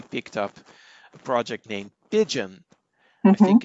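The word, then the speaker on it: Pyjion: compilers and he picked up a project named pidgeon i think it's spelled p y j i o n which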